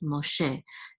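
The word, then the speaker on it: משה: Catan so this is mache the accent is on the last syllable and mache is of course Moses in Hebrew so by yo man I deny l ma che now this is AB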